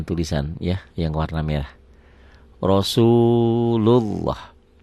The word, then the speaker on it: Rasulullah: Rasulullah. Pertanyaannya, lafaz Allah ini dibaca tipis apa tebal? Tebal Pak Ali. Kenapa? Karena sebelumnya baris atas nih, Rasulullah.